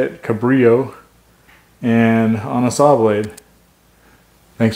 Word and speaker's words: Cabrillo: Point Cabrio Lighthouse that's how you say it Cabrio and on a sawblade thanks for watching